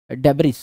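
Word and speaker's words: debris: आपके filtered large size डेब जिसको डबरी कहा जाता है है ना एस साइलेंट होता है पर डेब बोललो यार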